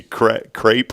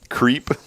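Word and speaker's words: crêpe: It's supposed to be crepe or whatever. Like crepe myrtle. Creep. Creep. I think it's pronounced crepe.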